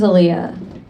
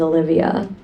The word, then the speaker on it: Alia: Um, my name is Aaliyah. It is spelled with a few less letters though than the R&B singer. It's kind of like a gentrified version if we're being honest. A lot of the time when I introduce myself to people, they think I'm saying my name is Olivia.